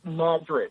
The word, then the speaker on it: Madrid: near the prime healing spots no it's New Madrid Illinois now your extra double your extra double bonus yes that is pron that is pronounced Madrid it's the fault it's the earthquake fault the